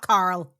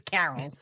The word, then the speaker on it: Carol: I have to pronounce, it's not Carl, it's Carol. Written by Martin Kitrosser, Carol Watson, and Victor Miller.